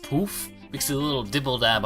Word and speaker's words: Poöf: was sort of confused that this was actually pronounced poof because a little dibble dab over the second though but apparently it is pronounced poof i watched a trail arts a little poetic